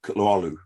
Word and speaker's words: Kutluoglu: So the G's silent and silent, Kutluoglu. Kutluoglu.